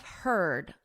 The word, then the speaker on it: herd: Beware of herd, a dreadful word that looks like beard and sounds like bird.